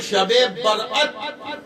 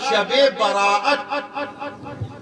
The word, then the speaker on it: شب برأت: بھی کہی جاتی ہے۔ صحیح کیا ہے؟ شب برأت، دو تلفظ صحیح ہیں، ایک تو شب برأت اور دوسرا شب براءت، یہ دو تلفظ ہیں، دونوں صحیح ہیں، اصلی یہی ہے۔ باقی